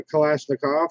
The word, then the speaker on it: Kalashnikov: know what I'm saying I say Kalashnikov I've seen people that I respect that pronounce that coalition akov I don't see that I have actually seen Macau himself speak and refer to it as a Kalashnikov so well like with